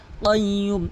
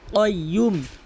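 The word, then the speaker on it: القيوم: হাইয়ুল কাইয়্যুম। এখানে কিন্তু কাফ উচ্চারণ করা যাবে না, এখানে কফ উচ্চারণ করতে হবে। আর কফটি হচ্ছে জিহ্বার গোড়া উপরে তালু থেকে উচ্চারণ হয় কাইয়্যুম।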